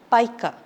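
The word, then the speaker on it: pica: or not so that's that condition is called paa not Pika then we have a skin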